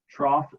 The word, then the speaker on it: trough: is called the trough trough sounds like this t-carr o FF that's how it sounds but it's spelled with an O ugh trough so I'm